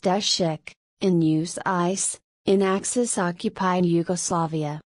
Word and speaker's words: Tešić: Career: Steve Tesich was born as Stojan Tešić, Serbian, pronounced Tešić, in Užice, in Axis-occupied